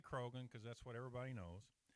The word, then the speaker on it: Croghan: was not named Croghansville, because the GH is silent and no one would say Crowan. So I'm just going to say Croghan because that's what everybody knows.